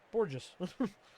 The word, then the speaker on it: Bourjos: Yeah, Bourjos. Like gorgeous, but with a B.